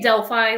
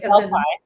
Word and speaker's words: Delphi: Delphi, am I pronouncing that correct?" I say Delphi, like Delphi.